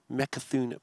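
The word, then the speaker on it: Mecha'thun: side of Belarus, and Mekathun Priest. Did I say it right?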